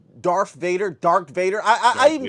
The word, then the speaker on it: Darth Vader: hearing a lot of people call Darth Vader, Dark Vader, Darth Vader. or Obi-Wan, stuff like that. Like very Mm-hmm. interesting pronunciations.